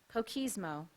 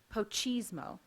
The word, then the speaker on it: pochismo: Poquismo. Are there any alternative pronunciations? There are not. Poquismo. Can you repeat the word? Yes, the word is poquismo. I'm sorry, I pronounced it wrong. Pochismo.